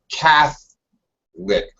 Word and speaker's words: Catholic: When it's a noun, Catholic. First syllable stress, and we actually drop that middle syllable in English.